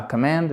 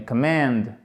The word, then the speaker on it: command: The brain is the command, et non pas command, mais command. Accent tonique, vous voyez, c'est intéressant sur la deuxième partie.